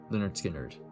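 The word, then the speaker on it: Lynyrd Skynyrd: skinnard with their debut pronounced leonard skinner yeah i said right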